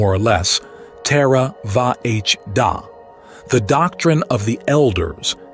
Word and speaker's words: Theravada: Theravada, pronounced more or less "terra-va-h-da", the doctrine of the elders, is the school